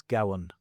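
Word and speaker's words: gabhan: The Irish for the blacksmith is Gowan.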